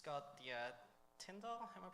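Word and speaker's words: Tindle: It's got the tindal, am I pronouncing that right?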